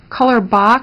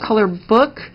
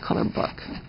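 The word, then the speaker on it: Colorbök: fyi people call it color bach but again it's pronounced color book because the accent over the o makes it pronounced like book so that's pronounced color book i am just a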